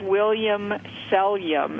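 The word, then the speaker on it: Williams Selyem: Same with William Sellium is another great Pinot Noir producer. 2 words, William, like William right. the man's name, and Sellium, Selyem.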